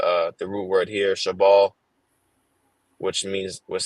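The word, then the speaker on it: שבלת: the Hebrew okay uh which is uh shabal okay that's the correct pronunciation Strong's h 7641 shabala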